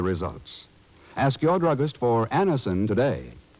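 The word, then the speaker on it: Anacin: a moment when we ask you to try Anison for the relief of pain due to a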